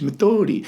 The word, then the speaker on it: Methodi: He says it's like French, Methodi.